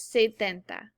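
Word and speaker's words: setenta: s's so does say whereas if you look at 70 the number seven in spanish siete has an s and a t so 70 is ce denta all right our last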